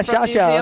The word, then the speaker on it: Shasha: Oh, yeah, Shasha. Okay, that's how you say it. We said Sia.